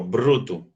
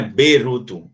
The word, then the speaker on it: bruto: esse BR eu falo bruto, junto, brr. Não é beruto, é bru.